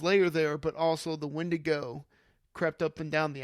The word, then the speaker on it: Wendigo: And I was just like, guys, it's pronounced the Wendigo, but yeah, that scared the crap out of me.